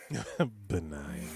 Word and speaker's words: benign: point and to be fair and i huh benign if there's a g n in there